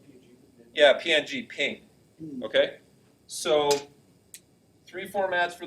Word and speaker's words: PNG: GIF is a second one, or GIF, pronounced both ways. And the third one I heard, Well, I said PNG. yeah, PNG, ping.